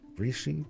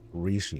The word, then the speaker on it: Rishi: Reishi, Rishi is how it's pronounced.